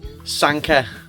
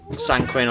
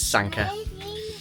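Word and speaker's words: Sanquhar: It's pronounced Sanka uh not Sangquin or San, however I said it. It's Sanka.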